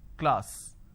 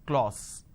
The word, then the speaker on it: class: c l a sir class this is how the pronunciation is but people make a mistake they say c l or sir instead of saying class they end up pronouncing this as Clause okay now why does